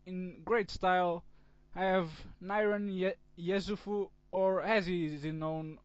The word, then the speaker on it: Niran Yesufu: off this series in great style I have Niran Yesufu, or as he is known on YouTube, FlyingNirangatang.